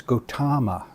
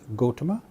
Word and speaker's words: Gautama: Another one I notice very, very commonly is the Buddha's clan name, which is Gautama, and mispronounced as Gautama, Gautama Buddha. Here we have, once again, we have a short vowel mispronounced as a long vowel. The correct pronunciation is Gautama, or in Sanskrit, Gautama.